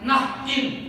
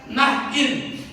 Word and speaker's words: Nain: Kalau Bapak Ibu punya pensil atau ballpoint, Bapak Ibu bisa tulis, bacanya Nahin, tulisannya Nain sama dengan bahasa Indonesia, tapi bacanya Nahin.